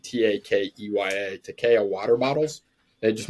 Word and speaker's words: Takeya: But it was great, and they've been a long time sponsored by Takea, I believe is how you pronounce it, Takeya, Takea water bottles.